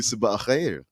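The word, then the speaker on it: sabah al-khair: They would tell you Sabah Khair. Sabah Khair.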